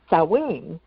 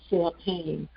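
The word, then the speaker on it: Samhain: Halloween is is cowing. And there's a couple of other different pronunciations. And I remember, you know, when I was younger and I first saw the word, I I always said Sam Hayne.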